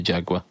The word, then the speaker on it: Jaguar: They've also got some Jaguars, Jaguars as the Americans call them. Jaguar. Yeah, Jaguar is is actually how it's pronounced.